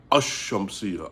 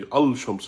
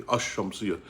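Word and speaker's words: الشمسية: And they call that shamsia because you say ashamsia. Ashamsia. So keep in mind, you say, you don't say, and you don't say alamsia, you say ashamsia.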